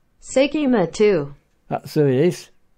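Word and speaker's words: 聖飢魔II: Seikima too. That's who it is. Say me trying to pronounce it. Obviously in Japanese. Seikimatsu.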